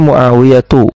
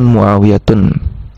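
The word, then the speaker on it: معاوية: Demikian juga muawiyatu. Ini nama laki-laki tapi diakhiri dengan ta marbutah. Sehingga cara bacanya Muawiyatu bukan Muawiyatun.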